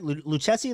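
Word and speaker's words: Lucchesi: they signed Joey uh luchessi right luchessi that is how you say the the last name uh left-handed pitcher he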